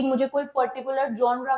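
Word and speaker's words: genre: जेनरे नहीं, इसका जो प्रोनाउंसिएशन है वो है जॉनर। क्या है? जॉनर। जॉनर, ये चीज इसका प्रोनाउंसिएशन है।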